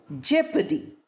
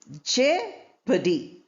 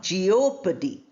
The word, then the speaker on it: jeopardy: Then we have jeopardy, jeopardy, not jeopardy.